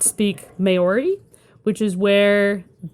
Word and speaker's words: Maori: Mainly because I do not speak Maori, which is where it's pronounced Maori. Maori. I thought it was Maori.